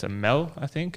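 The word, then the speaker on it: meel: I might pronounce it wrong, but it's a MEL, I think. Meal.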